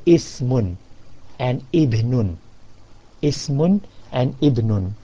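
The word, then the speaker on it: اسمٌ: So you would say Ismun and Ibnun.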